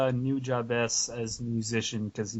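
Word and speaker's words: Nujabes: Also, I'd probably say New Jabez as a musician because he makes the cool rap. I've been pronouncing him New Jobbies this whole time.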